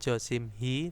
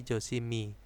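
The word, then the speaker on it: 조심히: Bukan Josimhi tetapi Josimi.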